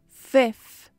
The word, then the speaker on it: fifth: Pronuncie a letra I como E, F, F. E coloque a ponta da língua entre os dentes no final. Fifth. Algumas pessoas não pronunciam o segundo F e aí fica fifth, fifth.